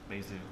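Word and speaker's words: Bézout: So that's B, E, and then it's got a accent on the E, Bezout. I make no warranty as to whether or not I'm pronouncing that person's name correctly.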